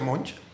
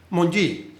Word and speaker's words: Monge: Este señor Monge, creo que se pronuncia así, se escribe Monguy, pero creo que se pronuncia Monge, hizo esa propuesta y se la aceptaron inmediatamente.